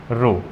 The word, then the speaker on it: rho: किया है Greek letter रो। इसे हम प्रोनाउंस करते हैं रो के, RHO रो, या तो इस रो